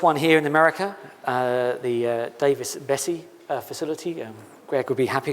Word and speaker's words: Davis-Besse: The first one here in America, the Davis-Besse facility. Greg would be happy because I pronounced that correctly.